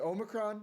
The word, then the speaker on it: omicron: games are getting pushback the oh is it omicron is that how you say it yeah that's